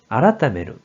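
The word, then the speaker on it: 改める: 그래서 고칠개가 되었고 뜻으로는 아라타메루, 음으로는 카이로 발음한다고 했어요.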